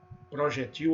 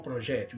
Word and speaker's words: projétil: Você pode falar acrobata ou acróbata, crisântemo ou crisantemo, oceania ou oceânia, réptil ou reptil, projetil ou projétil. Então essas duas variantes, nessas palavrinhas aí, e mais algumas, tá?